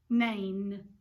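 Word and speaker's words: Nain: was the widow of it starts with an end rhymes with rain name the widow of name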